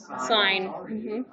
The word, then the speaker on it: sin: go but we don't we don't say sin remember how do we pronounce it sign i'm i'm making sure